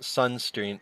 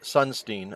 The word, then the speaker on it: Sunstein: on facebook corrected me it's cass sunstreen sunstein i i was saying his name wrong um hiroyuki um what